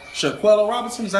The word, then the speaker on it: Shanquella: No, So y'all are talking about, and I'm gonna say her name wrong. Shaquella Robinson, is that how you say it? Shaquella? I believe Shaquilla? Shanquella.